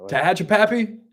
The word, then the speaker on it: Tehachapi: I just never heard Tehachapi pronounced that way. Tehachapi?